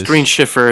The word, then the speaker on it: Green Cipher: It's Green Cipher, but you guys know it was Green Schiffer is how he pronounces it.